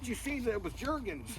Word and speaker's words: Jergens: And then all of a sudden she sees that it was jergens. Jerkin. So they pronounce it jerkins.